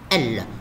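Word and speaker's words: elles: Céline et Julie, ce sont deux filles, c'est féminin, féminin, pluriel, alors elle avec S, mais ça se prononce elle, on ne prononce plus le S.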